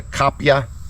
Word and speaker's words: kapia: so what you're looking at right now is the kapia paprika and that's spelled k-a-p-i-a but it's also spelled k-a-p -y-a kapya this chili is grown in the southern